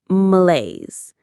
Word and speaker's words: malaise: Let's try that French word. Malaise. It sounds like males.